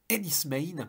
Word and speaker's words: Enys Men: quasi expérimental et métaphysique Enis main oui on prononce comme cela dans la langue locale celtique des cornoilles puceque ça se passe